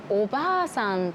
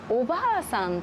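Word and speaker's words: おばあさん: 次におばあさんとおばさんですが、これあの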